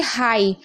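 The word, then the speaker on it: high: क्योंकि लास्ट में जी एच टी है, या फिर खाली जी एच होता तब भी जी एच साइलेंट रहता। ओके, समझ गए? आप देखिए हाई, हाई में भी आप देख रहे हैं लास्ट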